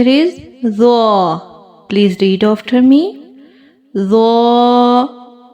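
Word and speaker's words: ظ: From here we pronounced Za. Read it with me. Za. Za. Za. Za has thick sound. If we don't make thick sound in this letter, Za change with letter Zal.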